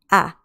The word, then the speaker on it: a: it's just a okay so in english you say it a but in spanish you say it ah ah okay you really have to open your mouth ah so we can see